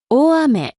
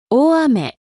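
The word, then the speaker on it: 大雨: 큰 비와 가랑비는 아메 앞에 각각 클대, 작을소를 써서 표현합니다. 발음에 유의해서 들어보세요. 大雨、大雨、小雨、小雨。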